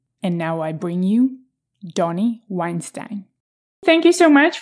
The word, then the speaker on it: Dani: so you know my name is spell Dan actually pronounced Donnie and uh I've been